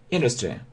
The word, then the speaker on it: industry: Смотрите, industry. Обратите внимание на произношение. Вот это произносится как э. Industry, которые используются в различных отраслях.